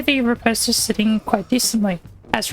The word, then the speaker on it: Riposte: the fum nail and title is the repost apparently actually pronounced repost it is a void